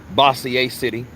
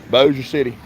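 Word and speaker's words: Bossier City: uh boa city which a lot of of people down south pronounce it basier city which they don't even say it here like that it's Boer Boer City Boer City so look welcome to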